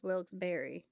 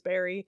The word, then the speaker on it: Wilkes-Barre: Uh yeah, cuz like it's pronounced it's spelled like Wilkes-Barre, but you could pronounce it as Wilkes-Berry. Okay, well yeah, I mean if the general Pennsylvania population says Berry, Then yeah, definitely.